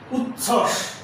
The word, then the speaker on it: উচ্ছ্বাস: যুক্ত ব্যঞ্জনের সঙ্গে ব ফলা থাকলে তার উচ্চারণ হবে না। যেমন উজ্জ্বল, উচ্ছ্বাস, তত্ত্ব।